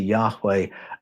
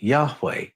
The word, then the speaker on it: Yahweh: were they pronounced now when you put the vowels into the name the H's almost disappear it becomes Yahweh but I'm going to